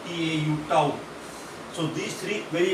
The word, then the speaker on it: tau: This symbol is actually pronounced as tau, T-A-U, tau.